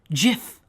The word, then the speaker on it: GIF: webby award and yes he pronounces it jiff not gif jiff how long have